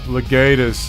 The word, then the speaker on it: Legatus: Legatus, is that how it's pronounced? Mm-hmm. Yeah, Legatus.